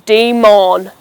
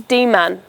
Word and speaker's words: demon: Now a demon is a mythical beast and it's commonly said as Daemon, but the correct way of saying it is demon.